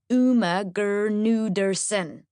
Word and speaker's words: Gudersonen: Firstly, the G in my surname is not silent. Just so you don't get it wrong the whole time. My name is pronounced Uma Gudersonen.